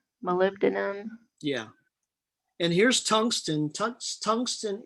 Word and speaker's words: molybdenum: I don't know how to pronounce that. It's Molybdenum.